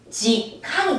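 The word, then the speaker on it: 時間: 이것을 일본어로 읽으면 지캉이 됩니다. 지캉. 그래서 우리는 시라고 하지만 얘네들은 지라고 하죠.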